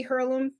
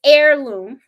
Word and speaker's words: heirloom: about um the baby her loom um you know the heirloom i keep saying her loom someone did correct me and stuff heirloom the h is is silent i guess so it's heirloom so i'm trying to